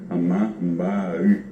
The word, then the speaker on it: Amambay: Vos pasás al lado brasileño y los brasileños no dicen amambay, dicen amambaí. Y exactamente le ponen el acento, porque si vas a pronunciar correctamente es amambaí, amambaí, que decimos amambaí, lo que en Paraguay. ¿Por qué? Porque no pronunciamos la I.